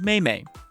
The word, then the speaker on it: Mei: Point of order, I know it is pronounced Mei. I've actually known that from the very start. I will not change.